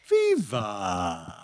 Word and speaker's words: Viva: And so he figured if he legally gave me as my first name and VA as my last name, people would pronounce it Viva.